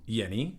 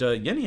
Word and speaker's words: Jenny: This is from Yeni, that's right, it's pronounced Yeni despite being a J, that's like the German or Swiss J.